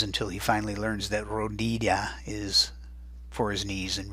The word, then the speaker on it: rodilla: You're hearing that Y sound again, but remember what I said back up on number 8 about Y sounds. They could be a Y in Spanish, but I'm warning you, in this one, it's not.